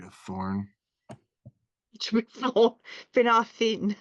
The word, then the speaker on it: Finarfin: It should be Finarfin. Finarfin.